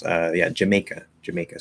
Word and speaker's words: Jamaica: on pronounce uh yeah jamaica jamaica so it's jamaica so there's two schwa and then may in the middle of jamaica um not hamika uh it is to